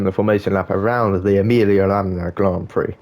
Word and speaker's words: Emilia-Romagna: Right, guys, as we approach the end of the formation lap around the Emilia-Romagna Grand Prix, I have to kind of do it in that Italian accent, otherwise you pronounce it like an idiot.